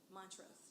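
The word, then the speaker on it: Montrose: Montro. Montros.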